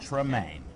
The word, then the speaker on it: Tremaine: I was mispronouncing it. Tremaine. Tremaine.